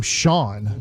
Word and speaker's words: Shan: is Shan like just they spelled they spelled Shan and then said let's call him Shawn it's like well then spell it differently Shan just ripped our